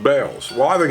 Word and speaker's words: Bealls: My wife says that thing that looks like an A is not an A, it's just a bell, to let you know that it's pronounced bells.